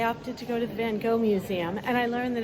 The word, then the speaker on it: Van Gogh: After the canal, I opted to go to the Van Gogh Museum, and I learned that in America, we pronounce it wrong. It is actually Van Gogh.